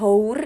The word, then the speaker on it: hour: itu adalah huruf H nah sekali lagi aku tegasin bahwa itu bukan berdasarkan hurufnya tetapi berdasarkan pelafalannya bunyinya Oke an hour itu dibacanya kata houre ini dibacanya adalah aware jadi pelafalan depannya itu adalah huruf a hai oke bisa dimengerti